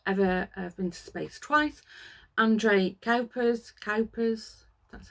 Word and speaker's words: André Kuipers: André Kuipers, that's how you pronounce it.